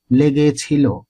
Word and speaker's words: লেগেছিল: প্রমিতভাবে করতে গেলে হবে লেগেছিল ল এর ওকারান্ত উচ্চারণ হবে কব মানে বলবো এখানেও